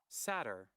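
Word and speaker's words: satyr: say this word seders s a t y r satter satter okay there you go satur today we learned there's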